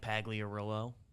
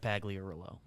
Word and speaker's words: Pagliarulo: Mike Pagliarulo, 84 to 89.